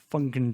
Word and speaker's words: Funkin: you were doing that make sure you you pronounce that n that is an important n bunken pumpkin funkin drunken i've been waiting